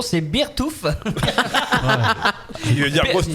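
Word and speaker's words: Beartooth: Alors c'est, je sais, je vais essayer de faire un effort de prononciation. C'est Beertooth.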